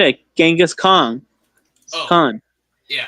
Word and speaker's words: Genghis Khan: But it's actually pronounced Changiz Khan. I know people are gonna get upset because how they pronounce it. A lot. Genghis Khan and Changiz Khan. They have both the same word. It's like tomato and tomato. Yep.